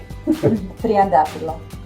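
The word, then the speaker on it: τριαντάφυλλο: TRIANTAFYLLO.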